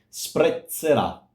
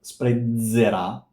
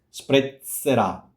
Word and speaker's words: sprezzerà: Sprezzerà. It's not sprezzerà. Sprezzerà.